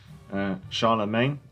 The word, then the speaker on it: Charlemagne: Charlemagne, no. Mange. Yeah, I know it's Maine.